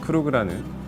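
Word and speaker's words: Krug: 그런 프레스티지 큐베가 있는데, 크루그에 대해서 간단하게 설명을 드리면 약간 이제 좀 독일식 발음이죠.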